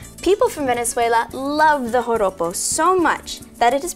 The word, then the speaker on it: joropo: Now, joropo is spelled with a J. In Spanish, the J is pronounced with a H sound.